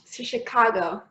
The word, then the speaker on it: Chicago: Sí, Chicago. Pero Chicago. Además, empecéis en la segunda sílaba. Chicago. She, ¿no? Un poco she, ¿no? Chicago. Sí, más empecéis en el medio.